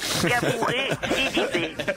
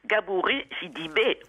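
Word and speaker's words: Gabourey Sidibe: Gabouré, Sidibé.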